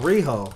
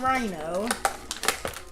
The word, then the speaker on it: Riho: Oh, okay, I'm saying it wrong. Riho. Alright. Not Rhino.